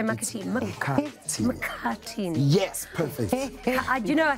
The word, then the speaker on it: Mkhathini: Mkhathini.